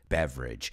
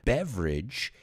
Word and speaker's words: beverage: it's average or beverage a good way to remember it is this word rhymes with the word bridge so there's an average